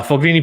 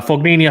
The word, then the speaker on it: Fognini: just kind of haphazardly going through it uh foglini puppets uh pos pistol even what i see people say per pistol don't they isn't it possibility it's how it's spelled you know sorry uh fognini i think it's coming about sangria nevashka either